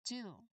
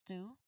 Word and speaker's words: two: So there's that's two and then the spelling is t. Now how do we pronounce it? Two. Two. There is a silent letter.